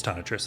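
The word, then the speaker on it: Tonitrus: is wait is it I always say it wrong is it tanatress or is it uh it is ton of Tris okay let's let's read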